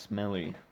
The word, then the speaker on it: SMLE: Sometimes it's pronounced smelly.